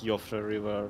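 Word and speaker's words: Siofra: I know that it's not Sephora River, I know that it's Yofra River.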